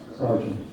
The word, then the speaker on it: sergeant: Another example would be, we spell it like sergent, surgeon, but it's pronounced sergeant.